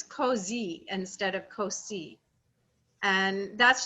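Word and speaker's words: così: see the word uh c-o-s-i there's a rule that between two vowels that s is pronounced like a z so it's cozy instead of cosi and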